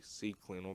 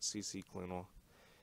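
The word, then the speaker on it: CCleaner: I like the it's actually C Cleaner, but for some reason I have this habit of pronouncing it CC Cleaner.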